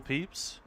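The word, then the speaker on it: Pepys: Yeah, it's pronounced Peeps. But that is that is that the Samuel Peeps?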